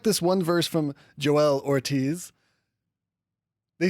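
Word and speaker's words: Joell Ortiz: And I don't know if that's how you pronounce his name. You know what? This is silly. We have internet's in our pocket. We're going to look this up. We'll be right back. BRB. Okay, we're back. And we are a little bit smarter than we were five seconds ago. Joe L. Ortiz.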